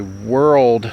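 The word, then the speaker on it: whorled: The next one is actually world milkweed, and that is spelled W-H-O-R-L-E-D, since there's a couple different directions you can go with that word.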